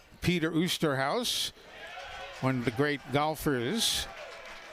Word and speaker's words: Oosterhuis: You see that spelling. It could be a lot of things. He pronounces it the straight American way, Osterhaus. If we were on the golf course, it would have been Oosterhuis.